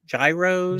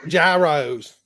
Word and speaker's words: gyros: excited for them um it's like the g is silent it's like your EUR so me and so